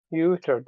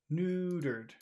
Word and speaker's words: neutered: of the sound in that word neutered you you ne new NE neutered n neutered okay NE yeah the king's